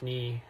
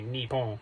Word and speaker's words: Nippon: Though this isn't ja and pan here, this is Nihon, or probably Nippon. It can be pronounced either way.